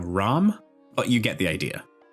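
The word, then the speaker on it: רעם: I'm sure I'm not pronouncing it correctly by just saying Ram, but you get the idea.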